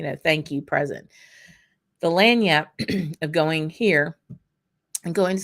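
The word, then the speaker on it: lagniappe: see these folks this is what we call lanyap in Louisiana land Yap it's pronounced l-a-n-y-a-p land Yap it's not spelled that way but what it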